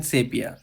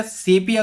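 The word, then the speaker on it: sepia: तो यहाँ पे राइटर जो है वो बोलते हैं कि मैं तुम्हें बता दूं कि मैं सेपिया कलर का हूँ, जिसे दोस्तों सीपिया बोला जाता है। इसका एक्चुअल प्रोनाउंसिएशन सीपिया है।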